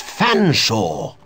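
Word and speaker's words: Featherstonehaugh: can't pronounce one's name it's perfectly simple F silent e a silent T silent h silent E silent r s silent T silent o n swap the n and the s silent e h a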